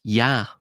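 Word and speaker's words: יה: 15 in Hebrew is pronounced Yah. Now, because of its connection to the holy tetragrammaton, it's typically altered, it's changed, right? It's usually not pronounced as Yah in common parlance, but that is how it is actually pronounced in the Hebrew language, or it's how it's at least codified in that language.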